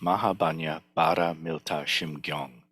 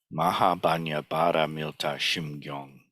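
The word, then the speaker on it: 마하반야바라밀다심경: chant the Heart Sutra, these characters are pronounced Mahabanya Bara Milta Shimgyong. Okay? And that's actually down here at the very bottom. Mahabanya Bara Milta Shimgyong.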